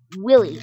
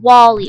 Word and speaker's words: Wally: Willy. I mean, what? Is it Willy? Oh, it's Wally. I'm sorry, Wally.